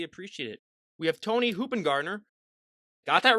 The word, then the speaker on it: Hoopingarner: We have Toni Hoopingarner. Got that right, everyone. I know that was one of those. I mean, I was nervous ahead of time, but luckily it's pronounced exactly like it's spelled.